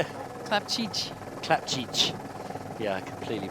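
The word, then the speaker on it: Clapcich: Bianca nice Cook and Francesca Clapci. Clapci, yeah, you butchered that one at the... Oh, I did a terrible job at the... How do you say it? Clapchich.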